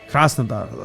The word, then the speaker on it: Krasnodar: Krasnodar, like some shit like that.